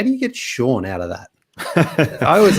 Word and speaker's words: Sean: and i was like how do you get shawn out of that i was like steam that's